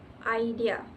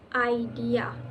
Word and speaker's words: idea: For example, the word idea in English is stressed on the second syllable, idea.